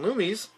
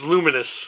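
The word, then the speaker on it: Lumines: oh uh we're getting lumies uh electron electronic Symphony uh that's luminous no I call it lumies no it's luminous I call it lumies it's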